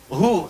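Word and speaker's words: هو: Karena kalau kita waqaf dalam bacaan huwa, wa-nya nggak dibaca. Bacanya hu. Contoh, Quran surah kedua, ayat 255, ayat kursi. Allahu la ilaha illa huwal hayyul qayyum. Berhenti di huwa. Allahu la ilaha illa hu. Hu, wa-nya nggak bunyi.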